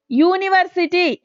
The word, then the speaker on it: university: A university sounds like Y, university. Y like we are using, not U.